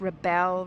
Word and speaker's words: Rebelle: rally the bow rally it's not rebel it's rebel rally thank you okay who